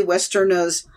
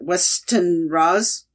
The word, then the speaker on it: Westenra: The Eight People Who Murdered Me, an excerpt from Lucy Westerna's, what, Westenra's? That R is not where I thought it was.